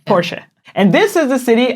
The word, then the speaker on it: Porsche: That's how you pronounce it in German. Porsche. Porsche.